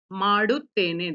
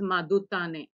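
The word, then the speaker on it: ಮಾಡುತ್ತೇನೆ: Don't read it as madutane. It is maduttene.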